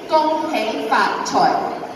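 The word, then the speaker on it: Gung Hei Fat Choy: Really simple, four syllables. You guys repeat after me. Ready? Gong, hey, Faat, Choi.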